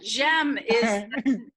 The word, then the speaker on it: J'aime: J'aime that's the deal right there.